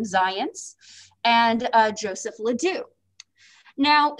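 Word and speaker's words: Zajonc: going to talk about comes from zions and yes that is in fact how you pronounce his name zions and uh joseph ledoux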